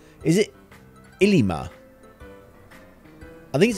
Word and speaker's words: Ilima: yeah it's i yeah it's ilima it's with an eye first yeah it's i-l-i-m-a